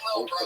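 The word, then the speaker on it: Lil Brough: He spells bro with three silent letters at the end.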